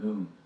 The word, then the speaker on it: Nun: And last week we said that's not actually how it's said in the Hebrew, right? It's called Nun. Right.